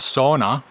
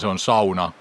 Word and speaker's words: sauna: And no, it´s not pronounced "soona", but sauna :-) We haven´t looked at the map in a while, let´s see it So yesterday we started at Imogammen.